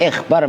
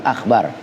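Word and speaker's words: الإِخْبَارُ: qauluhu, al-ikhbaru itu diharokatin, ikhbar bacanya bukan akhbar.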